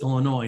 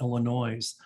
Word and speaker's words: Illinois: Our state is pronounced Illinois, not Illinois.